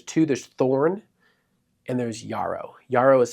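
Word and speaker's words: Jarrow: There's Thorn and there's Yarao. Yarao is spelled with a J pronounced like a Y, a Yaro.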